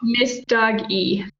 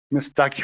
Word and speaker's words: Messdaghi: we've got how do they pronounce your last name i want to pronounce it correct oh miss dog e miss ducky well i was way off all right miss ducky